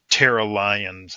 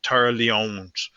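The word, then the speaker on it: Tara Lyons: it it tends to not want to say Tera Lions it wants to say uh tar Leons and that's not how we pronounce our name so we have to spell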